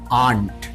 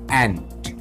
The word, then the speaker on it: ant: है, लेकिन इंग्लिश में most of the people pronounce it आंट। नहीं, ये आंट नहीं होता है। You will have to read it, you will have to pronounce it ant, ant, ant.